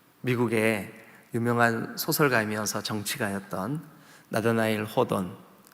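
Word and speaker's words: Hawthorne: 유명한 소설가이면서 정치가였던 나데나일 호던 발음이 어떻게 다르게 하는 것도 있는데 호손 뭐 이렇게 바람도 하죠 그죠 나타날 호던 제가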